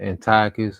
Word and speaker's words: Antiochus: It says, after the death of Seleucus, when Antiochus called. Yeah. Go ahead, bro. No, I said people pronounce it either Antiochus or Antiochus.